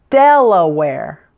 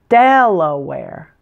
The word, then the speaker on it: Delaware: syllable net Connecticut Connecticut Delaware stress is on the first syllable the last syllable w ar e sounds just like the word where WEA are like wear clothes wear a shirt wear pants Delaware Delaware Florida stress is